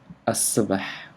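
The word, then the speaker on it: الصباح: andy stars arabic foreign i don't need to pronounce the lamb here because of the sound sad does not allow the lamb to be pronounced so in the morning be asabah i will explain that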